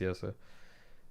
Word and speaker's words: Jesse: He's Dutch, so it's pronounced Yesa.